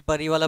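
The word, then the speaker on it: Пари: Russian actual টাইটেলটা হচ্ছে প্যারি পাপা কি পারিওয়ালা পারি নয় এর উচ্চারণটা হবে প্যারি বা পারিও বলতে পারো এবার একচুয়ালি এটার মানে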